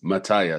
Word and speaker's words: Mataya: the last couple of years have I been pronouncing your last name correctly no no I haven't okay correct me please Mata mataya okay this whole time this whole time I've